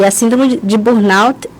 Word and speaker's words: burnout: É assim mesmo, síndrome de burnout? Isso, desse jeitinho, a pronúncia está maravilhosamente bem.